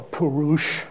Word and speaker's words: Purusha: in the Sankhya is called Purusha or Purusha as it's usually pronounced and what does it